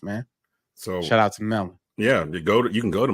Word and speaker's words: Melin: So shout out to Melon.